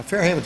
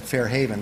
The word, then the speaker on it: Fairhaven: Now, Fairhaven's a nice place, but you have to pronounce it correctly. I just said Fairhaven. That is not the way you pronounce it. It is Fairhaven.